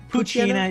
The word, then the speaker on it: Poochyena: Poochyena is the baby form.